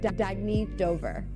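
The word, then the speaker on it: Dagne Dover: good you can live life intentionally oh it's pronounced dagy do dagy means new dawn it's a new dawn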